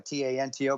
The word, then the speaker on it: Tanto: The reason I made it Tonto, a T-A-N-T-O, because I'm Mexican, Spanish. If it's T-O-N-T-O, Tonto, that means fool. So say it, Tanto, no big deal.